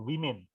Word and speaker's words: women: Antara woman yang tulisannya pakai A dengan women yang tulisannya pakai E, bacanya beda. Yang satu woman, yang satu women.